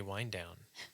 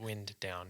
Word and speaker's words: Wind Down: every Sunday, and it is called The Sunday Wind Down, not Wind Down, even though everybody wants to pronounce it that way.